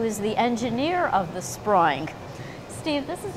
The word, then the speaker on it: Sproing: Did I pronounce that correctly? You did, thank you, that's right, Great. Sproing.